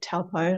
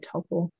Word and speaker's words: Taupo: but we concluded today to focus on Lake Taupo, sometimes pronounced Lake Taupo, Lake Taupo, depends on what side of the, you know, the linguistics you're on, but Lake Taupo.